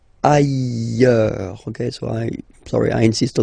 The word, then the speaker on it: ailleurs: Ailleurs. Look, final S not pronounced, and then you've got this y sound. Ailleurs.